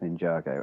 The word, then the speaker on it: Ninjago: Is it Ninjago or Ninjago? I don't know how it's pronounced. It's pronounced in the cartoon. It's pronounced Ninjago. Again, I have kids.